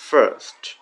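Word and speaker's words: first: একটু চাপা স্বরে একটু ধাক্কার মতো হবে কিছুটা এই সাউন্ডটা।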